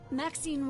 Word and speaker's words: Maxine: of most exquisite varieties Maxine rhymes with Queen oh he's a darling